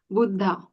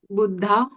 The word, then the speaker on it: Buddha: That was dental. Um, but just the little aspir sound coming out after it. Buddha. Budda. That was much better. Okay, we can have the authentic Indian pronunciation from Shellaka.